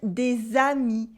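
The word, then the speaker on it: des amis: friend a nanny and desami desami friends with a silent S at the end and the liaison in the middle we also have the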